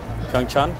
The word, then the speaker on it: PyeongChang: PyeongChang. Do you know where it's going to be held? PyeongChang. Oh, yeah. You know Korea. It's called PyeongChang. PyeongChang, yeah. PyeongChang. PyeongChang. Chang. Chang. Chang. Like CH. PyeongChang.